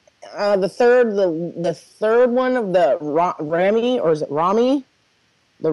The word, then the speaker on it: Raimi: I think the third one of the Rami, or is it Rami? The Rami part, because they're made by Sony. Sony owns the rights to Spider-Man. Oh, you mean Sam Raimi? Is that how you pronounce it?